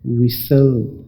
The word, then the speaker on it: whistle: अब आवाज में तो ये बहुत आसान है, इसमें आपको WI और SL से पैदा होने वाली आवाजें लग रही हैं, विसल।